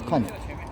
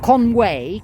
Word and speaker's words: Conwy: How do you pronounce it in Welsh? Conwy? Conwy, yes, Conwy. Not Conway, Conwy. Conwy.